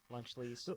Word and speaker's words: Lunchleys: LUNCHLEES. There you go. Lunch lease. Have 5 E's at the end. Lunchleys. Yeah, you gotta really drag it out.